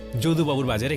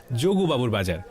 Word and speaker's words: যদুবাবুর বাজার: একদিন আমি ভবানীপুরের যদুবাবুর বাজারে গেলাম, সঙ্গে ছিল কুহু। আচ্ছা দাদা, এই বাজারটা যোগু বাজার তাই না? যদুবাবুর বাজার, উচ্চারণের দোষে অনেকেই একে বলেন যোগুবাবুর বাজার।